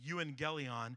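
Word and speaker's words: εὐαγγέλιον: The word gospel actually comes from an old Greek word pronounced euangelion, and that word literally means a proclamation or a declaration.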